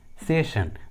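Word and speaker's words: session: इसके लिए ट्रिक है, यदि किसी इंग्लिश वर्ड्स में डबल एस के बाद ION या IA आता है, तो एस का उच्चारण श होता है, श। For example, मिशन, पैशन, सेशन।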